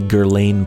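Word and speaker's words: Guerlain: perfume sections to see if there are any Gerlain products. Gerain is spelled G U E R L A I N. It's pronounced Gerla in French, but it's Gerain, I guess, in English.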